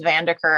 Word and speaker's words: VanderKuur: I think if her last name is pronounced VanderKuur, I think I got it right.